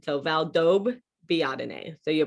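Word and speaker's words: Valdobbiadene: connelliano right and then a double consonant you always produce both letters side by side so valdob biadine so you're pronouncing that b twice distinctly valdo biatane but that's not really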